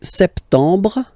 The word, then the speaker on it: septembre: So, septembre, septembre, septembre. Remember this E-M en septembre. You don't insist on the final E.